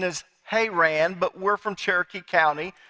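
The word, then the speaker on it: Haran: meanwhile Jacob left bare Sheba and traveled towards her Anne now the correct pronunciation is hay ran but we're from Cherokee County none of us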